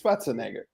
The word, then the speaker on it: Schwarzenegger: You think the Austrians say Schwartz? They don't say Schwartz. It's Schwarzenegger. There you go.